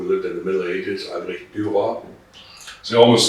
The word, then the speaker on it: Albrecht: Yeah, So you were born Albert Dietrich. Am I saying that correctly? close enough. Better than most. Okay, I'll take it. This is a hard name to pronounce for Americans. It's Albrecht Dietrich.